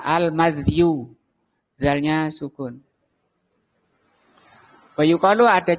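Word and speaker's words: المذي: Nah, al-madhi itu kata beliau bi fathil mim, dengan di fathah mimnya, madhi. Wa sukuni dzal, dan sukun dzalnya disukun, berarti bacanya al-madhiyu.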